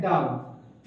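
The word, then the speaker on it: doubt: है अच्छी तरह से अगर किसी वर्ड में बी टी के पहले आता है तो वहा ब बी साइलेंट होता है सेसे डे इसे डे पढ़ते डेट पढ़ेंगे क्या पढ़ेंगे डेट इसे क्या पढ़ेंगे इससे डाउट है क्या लिखा है डाउट इससे क्या पढ़ेंगे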